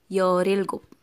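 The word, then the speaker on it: 열일곱: If you're going to read it fast, real connect to E, RI, YORILGUP, okay, by syllable, YOLILGUP, so YOL is 10, ILGUP is 7, that is YOLILGUP, 17.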